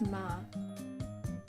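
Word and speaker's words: 马: I guess it's, if you know uma in Japanese, it's just ma. Ma is horse.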